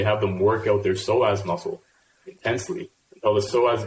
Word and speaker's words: psoas: The psoas muscle, if people try Googling it, it's spelt pretty funny. I think it starts with a P, right?